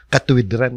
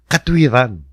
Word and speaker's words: katwiran: Pero hindi natin binibigkas na katuwid-ran yun. Di ba? Katwiran. So katwiran yan.